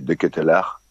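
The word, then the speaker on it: De Ketelaere: Alors j'espère que je vais bien le prononcer cette fois-ci, c'est De Ketelaar.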